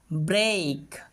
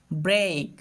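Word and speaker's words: break: ব্রেড ঠিক তেমনি করে বলতে পারি ব্রেক। খেয়াল করো এখানে ই এ এর পরে কিন্তু কে বর্ণটাকেই দেখতে পাচ্ছি। এখানে কিন্তু এই সাউন্ড করছি। ব্রেক ঠিক তেমনি করে ডেট হেড।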